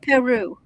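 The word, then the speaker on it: parure: And it's pronounced Peru. Like the country Peru.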